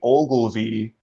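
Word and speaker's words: Ogilvie: Yeah, it is spelled OLGILVIE. Ogilvy. I'm thinking like Ovaltine, like Christmas Story, Ovaltine. I'm like, Ovaltine? The drink? No, Ogilvy, Maurice, Hedgehog.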